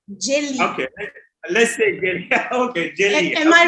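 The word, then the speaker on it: jeli: for griot is jelly so it's better say jelly jelly jelly okay okay am I right am I writing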